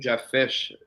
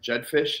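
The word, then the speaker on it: Jedd Fish: And the fact that they retained Jeff Fish, Jet Jedfish, that's how you say it.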